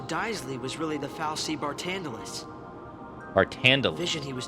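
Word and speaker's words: Barthandelus: Bartandalus is how you pronounce it.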